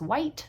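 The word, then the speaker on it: Wight: name maiden name was white w-i-g-h-t and yes you have to spell it out every time you tell someone what your name is because otherwise they will spell it wrong what's the longest relationship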